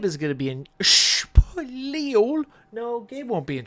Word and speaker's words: Spiel: Gabe is going to be in Spiel. No, Gabe won't be in Spiel yet.